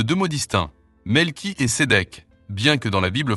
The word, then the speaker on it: Sédek: Le mot Sédek vient de l'hébreu Sédek, qui se prononce T, S, E, D, E, Q.